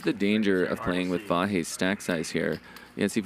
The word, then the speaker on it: Vahe: Vahe.